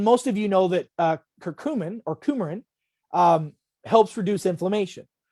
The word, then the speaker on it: curcumin: a nutrient called and people pronounce it different it's just like tomatoes and tomatoes i call it curcumin some people call it a curcumin some people call it whatever it's a spice that's